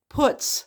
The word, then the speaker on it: putz: p u TZ now not like the word putts when you call somebody a putts which means somebody that kind of Pitt around to avoid work but uh this is